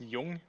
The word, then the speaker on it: Jung: by the way um it's pronounced jung okay yeah it is pronounced you're right you're right i'm going